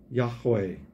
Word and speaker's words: Yahweh: It is in the Hebrew language pronounced Yahweh or Yahweh. It is absent of vowels, and it is actually pronounced, and I don't do a very good job of it, but I'm not Jewish. But Jewish people would pronounce it, and it would sound like a breath rather than an actual word.